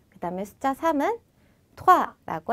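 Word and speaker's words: trois: 투 자 여기서도에 발음을 막 투화 이렇게 토할 거 같이 하실 필요는 없어요. 그냥 살짝만 토아라고 건드려 주시기만 하면 됩니다.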